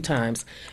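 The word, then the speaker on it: thyme: very lightly beat the breast bone a few times and you roll your head back and forth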